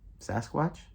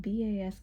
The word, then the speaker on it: Basquiat: Sasquatch? No, Basquiat.